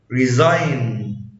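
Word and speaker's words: resign: حرف جي لا ينطق اذا جاء قبله حرف الاي وجاء بعده حرف الان. زي ساين ساين لاين لاين ريزاين ريزاين فورين فورين.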